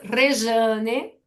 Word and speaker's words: Rejane: Pero no decía, "Mi nombre es Reane porque la letra J en portugués hay un sol de Y. Se escribe rejane, se pronuncia rejane como una buena brasileña, ¿no?